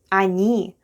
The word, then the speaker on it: они: Они is they. Хотят is want. Пирог is pie. Они. Хотят. Пирог. Они.